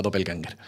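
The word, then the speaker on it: Doppelgänger: Tú en alemán sería algo así como Doppelganger, pero bueno, en español ya se acepta Doppelganger.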